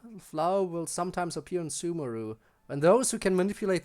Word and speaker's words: Sumeru: in a second oh i guess it's sumeru ha i guess i've been pronouncing it wrong the entire time but i thought everyone said sumaru weird once i get